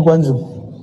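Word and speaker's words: Guangzhou: nah kita ada seorang jemaah perempuan berobat ke guanzu benar bacanya guanzu Ya sampai di sana ketemu S mau diajarkan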